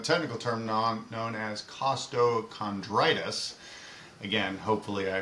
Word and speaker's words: costochondritis: And first, I just want to give you props for pronouncing it correctly. Costtoondritis.